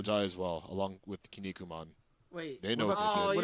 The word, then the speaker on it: Kinnikuman: Do you pronounce it Kinnikuman or Kinnikuman? It's Kinnikuman.